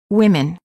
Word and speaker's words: women: as the food means also in the word women the O is pronounced as e women word pairs big city